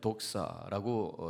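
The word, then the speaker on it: δόξα: 헬라어로는 영광을 독사라고 이렇게 발음을 합니다.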